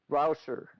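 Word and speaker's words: Rauscher: Pronounce it correctly for me. Rouser.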